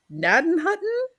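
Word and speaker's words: Gnadenhutten: start with uh listener it is spelled GN a d n h u tteen naden Hutton n NAD Hutton NAD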